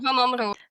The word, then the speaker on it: Van Rooij: Yep, and then I would go for the fifth one, Moolman, Van Rooij. Is that how you say it? Van Rooij.